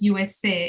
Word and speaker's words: Youwes: And at some point it says USA. If you read it, it's spelled Youwes. So it's a Creole spelling, but of course, when we say it out loud, it's the US.